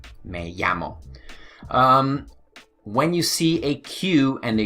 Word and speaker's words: llamo: yeah mo okay so anytime you see the Double L right over there okay don't say Mel ah mo say in a llamo ll okay 1 l plus 1 L makes a why ok don't forget may-yammo when you see a